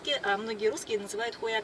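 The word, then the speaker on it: Huayacán: The second most promising area is Avenida Huayacan. There, the first English letter H is not readable, it is correct to pronounce .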